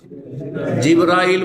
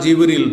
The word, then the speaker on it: জিবরাইল: ফেরেশতা, ফেরেশতাদের প্রধান জিবরাইল বা জিবরিল, 2 ভাবে উচ্চারণ করা যেতে পারে।